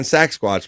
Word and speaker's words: Saxsquatch: All right, so the first part of his word is like sax, like saxophone. Sax. Okay. Sax. And then he's also a squatch. So it's sax squatch.